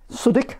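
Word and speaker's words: Southwick: This is William's work address there, Crown Road, Suddick, as it's pronounced in Sunderland.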